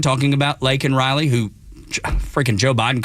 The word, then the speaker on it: Laken Riley: Why Marjorie Taylor Greene wasn't arrested because she shouted out, say her name, talking about Laken Riley, who freaking Joe Biden called Lincoln Riley.